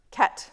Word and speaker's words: ket: seen it before, um this like half bracket around the zero and half bracket around the one is pronounced k. It's like the right hand side of a bracket.